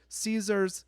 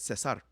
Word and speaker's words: Caesar: Caesar's salad. No, that's not how you say it. Cesar. Oh, really? I didn't know that. Yes, because it was made there first.